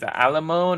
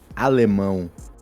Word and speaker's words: Alemão: pronounce your name is alamon or is it different pronunciation Al no you can talk like this or if you want to talk more like a Brazilian guy you can talk Alo oh okay okay yeah